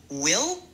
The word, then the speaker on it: will: Pour le mot will, assure-toi de bien prononcer le i comme dans fil.